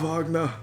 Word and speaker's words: Wagner: The German pronunciation is Wagner.